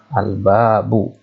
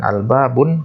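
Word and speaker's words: الْبَابُ: albabu Pertama Bacanya adalah albabu Kenapa dibaca albabu bukan Alba Bun karena ada liftnya nah terusnya hal bab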